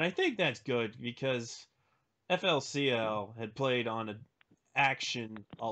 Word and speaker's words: FLCL: Rhymes with Ruly Ruly. What? I didn't even catch that. Ruly Truly. Alright. Yeah, FLCL. I'm actually...